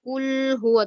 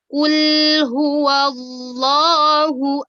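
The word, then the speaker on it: قُلْ هُوَ اللَّهُ: jadi kembalikan lagi ke huruf asalnya begitu Bukan kulhu wa tapi kulhu allohu ahad daya kulhu allohu bukan Allah ya tapi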